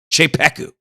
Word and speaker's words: Czepeku: Cheeku is a little hard to spell so I will spell it for you. That's cz e p e k u. Cheeku.